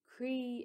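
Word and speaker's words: croí: i had started a movement group called creative movement cree is spelled c-r-o-i father which is the irish word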